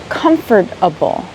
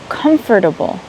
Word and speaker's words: comfortable: say the word comfortable, it's not pronounced exactly how it's spelled. If you pronounce it exactly how it's spelled, it would be comfortable. Comfortable. I have heard some native English speakers say comfortable. To me, it sounds uncomfortable to say comfortable. So I would recommend try to say it like this.